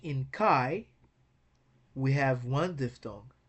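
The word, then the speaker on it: καί: So A is pronounced as if it was one letter. So we should see trace as Kai. It's just one syllable word.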